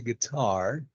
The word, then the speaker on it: guitar: yeah don't forget that the stress is on the second syllable you say guitar how often does your